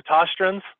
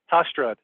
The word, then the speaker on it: Tostrud: The Tostruns? Tostrud. That's what I said.